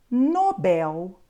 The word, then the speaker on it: Nobel: da palavra por exemplo nós só podemos dizer catheter Condor Nobel ruim ureter Sutil Essas palavras são Obrigatoriamente oxítonas Ou seja a última sílaba é a mais forte nós temos agora outras